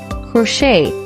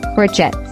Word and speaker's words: crochet: This word is pronounced as crochet and not crochet.